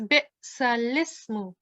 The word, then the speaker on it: بئس الاسم: But can you tell me if you're going to pronounce the alif or the lam here? I'm going to pronounce the lam.